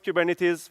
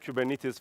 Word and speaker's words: Kubernetes: What is Kubernetes? First of all, it's a Greek word, as you can see from the Greek letters, that everyone mispronounces. Because the right way of saying Kubernetes is Kubernetes.